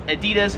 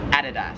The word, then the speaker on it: Adidas: In America, we would pronounce this as Adidas. However, here in Australia, it is Adidas.